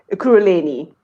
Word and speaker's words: Ekurhuleni: Ekurhuleni.